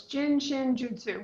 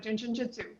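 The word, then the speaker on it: Jin Shin Jyutsu: It's pronounced like joot, like rope, and sue, like the woman's name. So, it's jin chin jutsu, but when you say it fast, it sounds like jin jutsu because it you just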